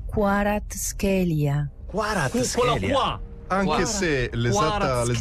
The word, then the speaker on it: Kvaratskhelia: Vita Varatskelia. No? Lontano. Qui c'è Kvaratskhelia. Quello qua. Anche se l'esatta pronuncia che io ho trovato sarebbe Hvisha, Kvaratskhelia.